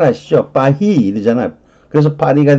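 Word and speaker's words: Paris: 파히 이러잖아요. 그래서 파리가 된 거죠. 불어는 자음이 맨 끝에 오면 발음을 안 하잖아요. 그래서 이것만 발음해서 파히 이렇게 되겠는데, 아무튼 우리가 파리라 그러는 거잖아요. 영어로는 물론 페리스죠.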